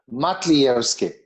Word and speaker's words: Matlievski: gone over your name my guest today mika mitivsky mithievsky yes that's that's better it's how do you say your last name close enough okay my guess say say it one more time for me matlierski mattievsky yes okay all right let's take it